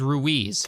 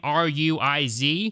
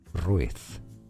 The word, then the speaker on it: Ruiz: my dumb American tongue the character's name r UI Z is pronounced rui throughout the movie I looked online and I guess there's like a million pronunciations for this particular name throughout the world from Spain it is said as ruith but throughout my initial recording I pronounced it as Ruiz I'm sure there's other